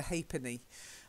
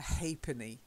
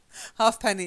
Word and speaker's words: ha'penny: now this next one you'd think it would be half and penny but it's a bit like that three penny so in the past that was called a thrupenny and this is called a ha'penny a ha'penny but I'll accept half pennies you know yeah half penny is fine only old people like